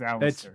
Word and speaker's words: Alasdair: It's Alistair. It's spelled weird. I got this Alistair. spelling. Yeah, it's spelled weird, but they pronounce it Alistair.